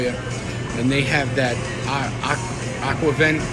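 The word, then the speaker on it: aquavit: and they have that aqua event i think is how you equavion is how you pronounce it i get a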